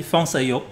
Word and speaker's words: Fong Sai-yuk: On dit Fang Saiyo en cantonais.